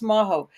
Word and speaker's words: Majo: And I love that because I said, "Oh, just tell everybody it rhymes with Tahoe." And she's like, "Oh, okay. We'll just do that." So it's maho.